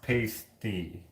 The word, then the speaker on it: pasty: Pronounced pasty. Pasty? I don't know. I don't know how to... your phonetic spelling is working. Pasty? Is it pasty?